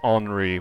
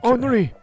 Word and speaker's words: Henri: That's his name, is Henri, which is spelled kind of like Henry. But he said, yes, Henri, please.